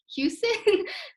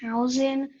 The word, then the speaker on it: Hausen: All right, last person I believe is let me see, who's Houston? Sorry if I'm saying It's pronounced Hausen, Houston.